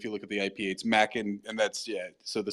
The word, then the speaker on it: Machen: is right he's like well it's Scottish it's Macken or maen right because that's how you and that's what it is on the Wikipedia if you look at the IPA Mack and and that's yeah so